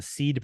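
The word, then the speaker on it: SEAD: called um that we developed it's called the seed process but it's spelled s-e-a-d exceed and it stands for strategic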